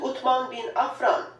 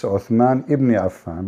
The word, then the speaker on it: Uthman ibn Affan: As you can see, title states Al-Musaf Al-Sharif, attribute to Uthman bin Affan, the copy of Al-Masar Al-Husseini in Cairo. So Yeah. Cairo You know, she said the name wrong. It's Uthman ibn Affan, but it's okay.